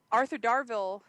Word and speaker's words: Arthur Darvill: um the uh Legends of Tomorrow thing um Arthur darville yes that's how you say his name uh